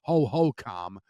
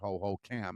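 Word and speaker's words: Hohokam: playing in that dump Ho-Ho-Com, and that is how it's pronounced. All the years you've heard Ho-Ho-Cam, it's Ho-Ho-Com, in case you need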